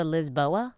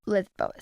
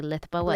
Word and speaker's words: Lisboa: You told your followers to go to Lisboa? Lisboa. Right. Lisboa. Say it. Lisboa. Lisbon. It's Lisbon. Lisboa. I'm not going to say it like that. Lisboa. I don't want to say Lithboa.